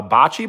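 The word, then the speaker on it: bocce: Uh, botchi ball. Uh, it's spelled B O C C E. Botchi.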